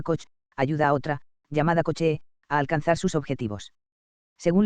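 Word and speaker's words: Kocs: que tenía lugar allí se le dio el nombre de cox y que se pronunciaba coche y como en esa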